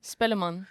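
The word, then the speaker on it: Spellemann: So you were nominated for Best New Artist and R&B Soul at the Spelman Award. Is that I'm pronouncing that right? Spelman? Spelleman. Spelleman. Hey.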